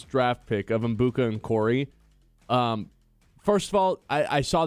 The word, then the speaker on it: Okorie: I mean, first and last name wrong. It's just this is just gonna be a fun Ebuka test. Okorie? Yeah, there you go. You said Ebuka on Corey.